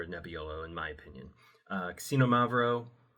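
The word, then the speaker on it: Xinomavro: front, you can do casino-mav-roh, which again, this is a Greek word, so it's not spelled remotely how it sounds. It sounds like casino, like the Martin Scorsese film, and Mavroh, like...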